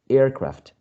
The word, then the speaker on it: aircraft: second one is craft so airfields aircraft the first element is the one stressed if you are if